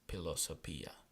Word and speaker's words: philosophia: But we are going to pronounce it with a P sound. So the word philosophy in Latin is philosophia.